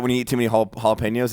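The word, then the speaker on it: jalapeños: matter expert how do you say jalapenos it's jalapenos there you go how said that I like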